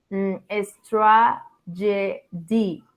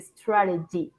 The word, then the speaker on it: strategy: just one mistake it's not relevant about the pronunciation you said all the time estra D it's not a straty is a strategy okay but no more congrat for you I